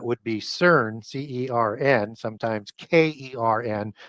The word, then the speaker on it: Cern: And the Etruscan equivalent to that would be CERN, C-E-R-N, sometimes K-E-R-N, pronounced Kern.